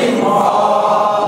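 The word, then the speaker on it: ر: কেমন হ্যাঁ তাহলে এখন দেখেন দুইটা দেখতে একই রকম না জি এই হরফটার নাম হচ্ছে র র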